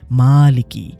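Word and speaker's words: مالك: এই খাড়া জবরের কারণে শব্দটা হয়ে গেছে মালিকী। মিমের উচ্চারণটা একটু টেনে পড়তে হয়।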